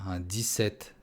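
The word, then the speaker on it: dix-sept: Буква P не произносится. 17.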